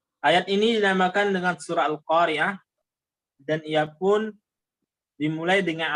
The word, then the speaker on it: القارعة: Di antaranya perhatikan selalu dalam pengucapan huruf H setiap akhir kata pada surah Al-Qari'ah ini. Tolong diucapkan haknya Al-Qari'ah. Al-Qari'ah sebab ada di sana yang tidak mengucapkan haknya.